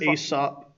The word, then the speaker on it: Aesop: Aesop? Yeah, Aesop.